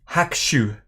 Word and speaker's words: Hakushu: 2 is that us you pronounce it hakshu ah hakshu hakshu yeah that feels about right that hakshu is bottled